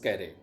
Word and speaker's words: Carew: इसके ऑथर हैं थॉमस कैरे, हैं थॉमस कैरे। आप देख पा रहे होंगे CAREW, डब्ल्यू इसमें साइलेंट है और पढ़ा जाएगा कैरे।